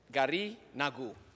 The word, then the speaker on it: Garinagu: I want to thank Senator Stewart Cousins for allowing us to present a resolution that honors the real pronunciation is Gariguna, Garinagu.